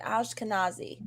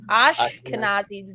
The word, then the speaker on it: Ashkenazi: Ashkenazi. Ashkenazi's Jew.